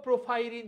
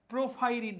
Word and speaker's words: পরফাইরিন: আচ্ছা, last one, লৌহ প্রোফাইরিন যৌগ। বানানটা এই জায়গায় ঠিক দেওয়া নাই, প্রোফাইরিন না, এটা হবে পরফাইরিন।